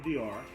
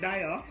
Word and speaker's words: Dior: next on our list we have dior no not dial guys make it a